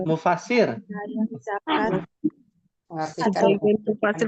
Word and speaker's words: mufasir: Hati-hati cara bacanya, bukan musafir, mufasir. musafir iya. Iya. Kalau musafir orang yang berpergian. Kalau mufasir itu ahli tafsir.